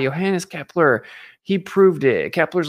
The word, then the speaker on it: Johannes: Johannes Kepler you know spell with a J pronounced with a Y Johannes Kepler he proved it